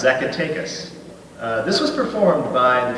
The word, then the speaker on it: Zacatecas: It's pronounced the way it sounds, Zacatecas.